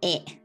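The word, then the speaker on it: へ: And then the particle ni or e, that's the same, right? Usually we use ni. E, written as he, pronunciation e.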